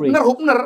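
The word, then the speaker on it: Hubner: Iya, Hupner, jangan Hapner.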